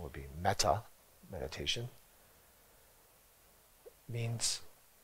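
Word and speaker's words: mettā: In Buddhism, loving kindness, in the Pali pronunciation would be metta, meditation, means it's a method to cultivate friendliness, connection, bringing joy to someone.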